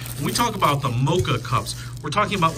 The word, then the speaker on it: Moka: Now, I think I'm pronouncing Moka right, M-O-K-A, not Moka, like M-O-C-H, like that sugary, delicious coffee drink.